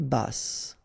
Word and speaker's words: basse: À taille basse, okay, so basse, final E not pronounced, but then you pronounce the double S, so S, basse.